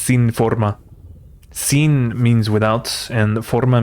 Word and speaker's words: sinforma: Forma it sounds cool in English but it's pronounced sin Forma sinen means without and Forma means form so